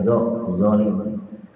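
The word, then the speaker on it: ظالم: Mengharamkan al-zulma, yaitu zolim, ya, pakai zolim, jangan sampai ke zai, zolim, karena beda arti juga nantinya, ya.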